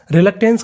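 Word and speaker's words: reluctance: ANCE, अगर आपको English में कहीं पर ANCE लिखा मिले इसे पढ़ते हैं एंस। क्या पढ़ते हैं एंस, क्योंकि हमारा कोड है।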